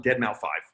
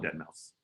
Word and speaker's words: deadmau5: name started come out everyone called him deadmau5 no one called him dead mouse no one knew that's how you're supposed to pronounce it what's sort of like